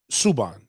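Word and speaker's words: Subban: ice iceman played earlier earlier this week um sabin i want to say that's how to say his name or saba it might be saban oh subhan subhan yep subhan um he is a it's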